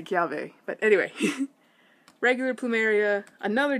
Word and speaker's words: Kiawe: be pronounced normally but if they're followed and preceded by a vowel then it makes more of a V sound so I know people do say Kel way but I have heard